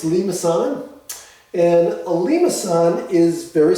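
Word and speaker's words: limaçon: called the lean assad that's the way it's pronounced it's lemasana and a limasson is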